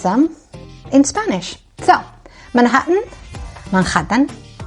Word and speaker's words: Manhattan: So, Manhattan, Manhattan. Naturally, that H right there, it turns into a J. Manhattan.